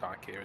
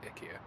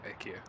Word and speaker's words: IKEA: I'm sorry, it's not pronounced IKEA, is it? IKEA. Are you taking the piss again? Well, that's how the Swedish pronounce it, IKEA.